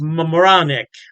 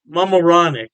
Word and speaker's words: Mamaroneck: Halftime Beer has two locations in New York State, Poughkeepsie, and I believe it's pronounced Mamaroneck. Mamaroneck. Yeah, don't quote me on that pronunciation. I tried my best.